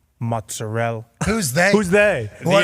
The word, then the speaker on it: mozzarella: Nothing makes me more mad than whenever they don't pronounce the vowel at the end. Prosciutto, mozzarella.